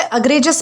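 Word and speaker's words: egregious: दोस्तों, इसे अग्रेजियस प्रोनाउंस करना है और यह एक एडजेक्टिव है।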